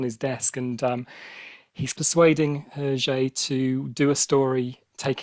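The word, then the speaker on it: Hergé: remain whose uh his his nom de plume is herjay which is the letters rg which is his his initials backwards of his name uh pronounced in french um so he's been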